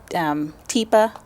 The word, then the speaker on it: Teepa: You pronounce her name Teepa, T-E-E-P-A, Snow, S-N-O-W.